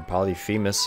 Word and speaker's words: Polyphemus: we're going with poly polypous or polyphemus if you want to read it phonetically uh Sacred Heart so